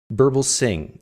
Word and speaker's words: Birbalsingh: Burbal sing. That's how you say it.